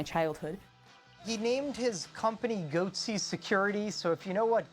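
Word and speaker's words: Goatse Security: They're called Goatsy Security. Is that am I pronouncing that correctly?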